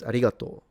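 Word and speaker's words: ありがとう: They do write it like that. Um. But they don't pronounce it. It's arigato.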